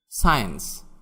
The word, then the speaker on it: science: সায়েন্স, SCIENC, এখানেও সি এর উচ্চারণ হবে না।